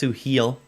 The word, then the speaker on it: Suhail: It's Suhail. I pronounced it wrong.